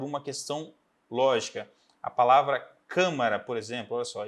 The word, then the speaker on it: câmara: Se eu não marcasse essa sílaba aqui atrás, eu poderia ler camara ou camará. Então fica muito longe do final, a tendência é que eu lesse camara.